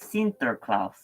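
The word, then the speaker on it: Sinterklaas: I think and um they uh pronounced Saint Nicholas as sinterklaus or sinterklaus um but the Americans heard Saint uh heard um Santa Claus so that's what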